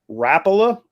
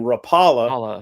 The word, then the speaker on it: Rapala: here's what we accept we say it's rapola above the Mason-Dixon line and Rapala below the Mason-Dixon line so if you grew up in the South you probably called it Rapala your whole life and if you grew up north you probably called it Rapala your whole life and so recording this as I go back and forth that's weird the grandson of the founder said it's